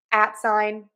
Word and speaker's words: at sign: This is our stress syllable, so loud, long, and high in pitch. And then we're going to add sign. That's going to be less stressed, and that's going to be a reduced syllable.